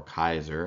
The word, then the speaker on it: Caesar: the second Emperor after Julius Caesar or Kaiser as it would have been pronounced uh in ancient Rome but um he's garbed